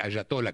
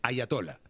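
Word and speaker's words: ayatolá: En castellano sería con una y dejar de decir hayatola, que todo el mundo dice ayatola, es ayatola. Ayatola.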